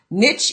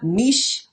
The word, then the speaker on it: niche: select a niche now it's pronounced niche in America niche over in Europe but whatever it's the same thing so what am I